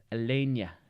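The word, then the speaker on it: Aleñá: Alenia, I believe is how you say it, because it's got the old Spanish stuff up there.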